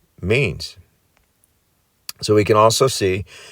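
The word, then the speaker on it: μήν: Interestingly, this takes you back to the Greek word for month, The ancient Greek word for month is mean, pronounced mean.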